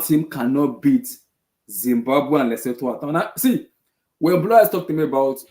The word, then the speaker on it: Lesotho: But it seems like the coaches, the goalkeeper, we did not beat Lesotho at home and Zimbabwe. Kuz, this is more than football. Nigeria national team cannot beat Zimbabwe and Lesotho at home.